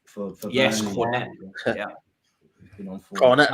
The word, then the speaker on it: Cornet: Cornet, like the ice cream, yeah.